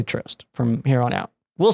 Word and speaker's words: Trøst: that has the same name and he said Trøst.